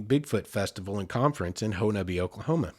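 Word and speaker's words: Honobia: 2009 ho nubby bigfoot festival and conference in honabi oklahoma it's spelled henobia h-o-n-o-b-i-a but i'm from the area from southeast oklahoma and it's pronounced tonaby so they had a huge festival every year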